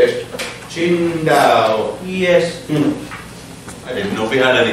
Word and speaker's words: Qingdao: Qingdao.